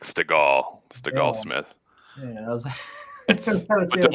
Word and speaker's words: Stegall-Smith: It's like Stegosaurus, like Stegall-Smith.